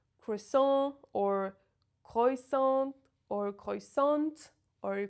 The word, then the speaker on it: croissant: First of all, the letters O and I together always make the sound wa in French. It's not oi, it's not ou, it's wa, just wa.